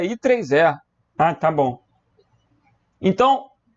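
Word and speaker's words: IEEE: Eu li IEE. Que droga. A pronúncia aí é I3E.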